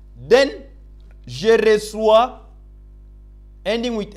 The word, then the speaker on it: reçois: It helps us to get the sound of C or C sound. Otherwise, this C will be pronounced as qui. Then, je reçois, ending with S, tu reçois, il reçoit, elle reçoit.